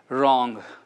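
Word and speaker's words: WROGN: He has a brand called Wrong, which is spelled W-R-O-G-N.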